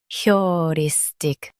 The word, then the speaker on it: heuristic: Emphasize ris in US and your in UK. Keep tick soft.